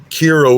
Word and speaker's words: Kira: Kira would rhyme with Shira.